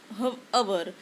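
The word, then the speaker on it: hour: सुद्धा एच ने होतो पण आपण त्याचा प्रोनन्सिएशन एच ने करत नाही एच तिथ सायलेंट आहे आपण बोलताना हवर न म्हणता अवर अस म्हणतो म्हणजेच ओ ओ यू आर अवर असा आपण प्रोनान्स करतो म्हणून इथं हा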